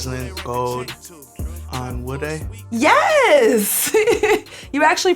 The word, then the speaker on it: Onwude: how to say my last name Rin gold on wood a yes you actually pronounced that perfectly thank you thank you I've